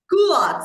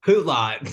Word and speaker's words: culottes: Culottes is what you're trying to say. Hoot-lot.